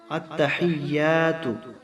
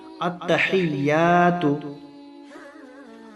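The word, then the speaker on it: التحيات: করতে পারি তো চলুন আমি ভিডিও আরম্ভ করছি আত্তাহিয়াতু আমার সাথে সাথে বলুন যাতে করে আরবির যে উচ্চারণ সঠিক ভাবে উচ্চারিত হয় বলুন আত্তাহিয়াতু আত্তাহিয়াতু আত্তাহিয়াতু লিল্লাহি লিল্লাহি লিল্লাহি শুরু থেকে বলুন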